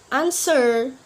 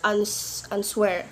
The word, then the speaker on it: answer: have letter R, and letter W also not pronounce it when in these common words. For example, like who, whoever, to, hall, answer. We not pronounce answer, but we pronounce answer.